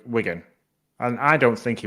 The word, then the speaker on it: Wigan: game against wiin Wigan oh my word not wian W Wigan and I don't think he I don't think